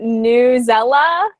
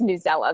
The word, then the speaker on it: Newsella: Mine, I pronounce it Newsella. If you break it down, it's News ELA. I think it's Newsella though.